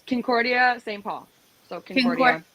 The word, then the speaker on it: Concordia: It's Concordia, St.